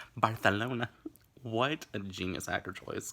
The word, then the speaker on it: Barcelona: George pronounces Barcelona. Barcelona.